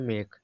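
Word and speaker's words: make: और समझ लो क्या एम ए के इसका हो गया मेक बस ई साइलेंट है ऐसे नेम में भी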